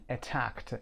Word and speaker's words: attacked: حمله کرد attacked him attacked صدای دی رو هم ببینید ت خونده میشه attacked به خاطر وجود که بعد از که دیگه در رو نمیتونید خوب تلفظ کنید میگید attacked.